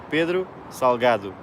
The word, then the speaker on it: Pedro Salgado: to back foot okay how to pronounce my name Peter saw God it's how you pronounce it Pedro Salgado so Salgado means salty